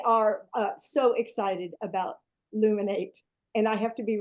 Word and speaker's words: Luminate: say it right because I've said it wrong many times as a teacher um we laminated every day and so I keep calling it laminate so I'm sorry but